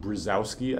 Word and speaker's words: Brzozowski: it's the uh yeah this is typically by Americans pronounced brzezowski I think um anyway I typed